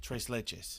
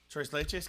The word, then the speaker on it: tres leches: cake what is it tres leches that's what sergio had that i couldn't pronounce choice lychees cake yeah remember when i said i couldn't pronounce it it's spanish for three milk cakes yeah he uses he